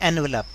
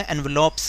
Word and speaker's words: envelopes: दिया कीजिए कि जैसे कई लोग बोलते हैं एनवलप, एनवलप नहीं होता, एनवलॉप्स होता है.